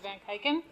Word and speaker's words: Van Keiken: I'm van kaiken you've heard my name pronounced three different ways this morning take your pick but I pronounce it van keiken um my full name